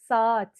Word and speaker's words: saat: The way we pronounce it is also a bit different than Turkish A. We say saat, saat.